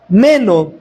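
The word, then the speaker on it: μένω: Y aquí, hermano, Juan usa un verbo griego que se pronuncia meno.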